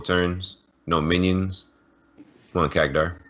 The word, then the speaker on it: Khadgar: Come on, Kagdar. How do you pronounce it? Is it Kagdar or Khadgar? I don't even know. Khadgar. Khadgar, okay.